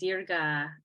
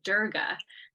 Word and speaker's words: Dirga: I have actually been calling the Dirga pranayama for years now, Durga, which is a Hindu goddess.